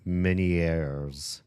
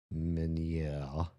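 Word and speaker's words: Ménière: Can we um miners pronunciation? Many minier though that's the American pronunciation. Can we get like a French? This guy's obviously French. Um, French pronunciation. Minè.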